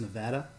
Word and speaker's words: Nevada: Yeah, but you go from Nevada to Utah in New Vegas. It's actually pronounced Nevada.